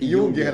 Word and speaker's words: Junger: Qual a pronúncia do seu sobrenome? É Junger. Junger, né? Eu falei Junger. Se escreve Junger.